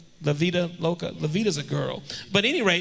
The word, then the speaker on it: La Vida Loca: Before now, we just live like there are no germs and just Live La Via Loca. Did I say it right? La Via Loca. La Via Loca. La Vida Loca.